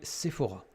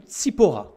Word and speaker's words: Tsipora: Moïse a épousé une femme qui s'appelait Séphora, ou Tsipora, si on veut prononcer en hébreu.